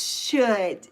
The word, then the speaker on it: should: It's should. The L is silent.